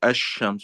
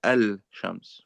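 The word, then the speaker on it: الشمس: Therefore the lamb is not even pronounced. So that's why we say we don't say al like ashams. You don't say al shams for those of you who know and there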